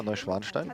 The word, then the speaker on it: Neuschwanstein: Neuschwanstein, yeah, Neuschwanstein.